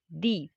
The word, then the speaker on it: the: सो द grass hopper went to दी एंट, तो vowel के साथ हमेशा जो है वो दी बन जाता है और कंसोनेंट के साथ ये हमेशा दा बन जाता है।